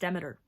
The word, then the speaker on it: Demeter: Yes, it is pronounced Demeter.